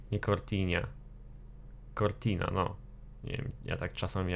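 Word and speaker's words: Cortina: przodu to bardzo ciekawy samochód niesamowicie ohydny pasky kortina Nie kortin kortina no ja tak czasami akcentuje po ludzku przede mą jeszcze jesten nie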